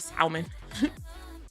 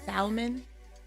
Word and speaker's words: salmon: Oo, salamon. What? What? What? How? Oh, how the hell are you? How How do you say it? The L is silent.